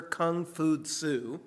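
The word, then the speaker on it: 孔夫子: So, Confucianism was founded by the Chinese philosopher Kung Fu Su. Uh that's how you say his name in Chinese, but in the West,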